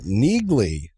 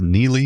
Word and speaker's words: Neagley: Uh talk speaking of nerds and not being very excited, uh Neagley I think it's Neely is are they silent G maybe?